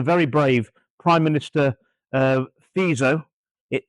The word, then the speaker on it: Fico: You've got the Slovakian government carried out under under the very brave prime minister uh FISO. It it's spelled FICO, but it's it's pronounced FISO.